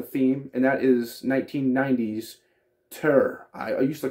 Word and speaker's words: Tyr: I know some people do, but I looked it up, and apparently it's pronounced Tyr. and it's just spelled T-Y-R with like Nordic letters or whatever kind of alphabet letter system they use.